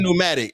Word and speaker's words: pneumatic: mean explain it explain pneumatic you say you can't I don't pronounce it pneumatic it's a p in front of it no pronounce bro